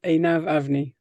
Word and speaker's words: Einav: a complicated one but the way I pronounce it is aav a and some people and